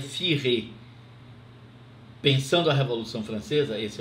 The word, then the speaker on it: Furet: A análise do historiador François Furet, a gente escreve Furet, mas pronuncia Furet.